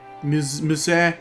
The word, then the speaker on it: Musée: Musée. Is that how you pronounce it? Yeah. Musée.